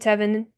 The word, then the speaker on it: Tevin: I think Tevin rhymes with Kevin. Tevin and Devin and Kevin, they all rhyme.